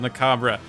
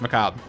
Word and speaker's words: macabre: the cub McCobb Specter someone in a youtube comment actually corrected my pronunciation clay said macabre but it's just macabre let's actually keep